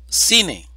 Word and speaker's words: cine: sin tilde pa tata cine división silábica siine sílaba tónica si palabra grave terminada en